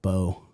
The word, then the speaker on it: Beau: We're I think we're going to go with Bo. B A Bo Holden. Bo Holden. Spell it. B E A U. Like beautiful. Yeah. Yeah. Like Bo. Yeah. Yeah. Like Bo. Exactly. Like Bo.